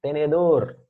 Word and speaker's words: tenedor: A sílaba tônica é a que está em amarelinho, tá? Você pronuncia como se estivesse chamando, por exemplo, tenedor. Aí tu percebes onde fica a sílaba mais forte.